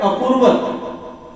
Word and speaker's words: अकुर्वत: तो क्योंकि संस्कृत में जब 2 वर्ड्स को ऐड करते हैं तो अ चला जाएगा, अ ज्वाइन हो जाता है, लेकिन आप अगर किम कुर्वत संजय पढ़ेंगे तो उसका मीनिंग अलग है, अकुर्वत पढ़ेंगे तो मीनिंग अलग है। वास्तव में वो कौन सा वर्ड है, अकुर्वत, लेकिन संस्कृत जिनके एक्सपर्ट हो गए हैं जो संस्कृत में, वो दोनों को ज्वाइन करते हैं तो अ साइलेंस हो जाता है।